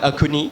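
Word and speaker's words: Axone: Hi, so it's called Akuni, which is basically a Naga dish.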